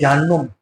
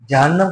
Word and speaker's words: جہنم: اب جو لوگ عربی نہیں جانتے یا قرآن سے پڑھتے ہیں تو یاد نہیں رکھتے تو کہتے ہیں جہنم. جہنم نہیں، نون پر پیش نہیں لگتا. جہنم قرآن جگہ جگہ پڑھا ہے تو صحیح لفظ کا تلفظ کرنا چاہیے.